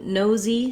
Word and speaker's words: nosey: And then when we get to nosey, same thing. Just hold your no long and add your Z as your second syllable.